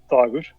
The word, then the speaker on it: Dag: indecipherable from M hey dagger how's it going how how do you say your name how I pronounce it yes in that's time I pronounce it dag but you can call me dagger dagger dagger all right